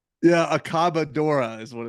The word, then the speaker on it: Accabadora: so last year's soft titled album Easy to pronounce this year you go with aboc cadora yeah accabadora is what it's called yeah yeah and that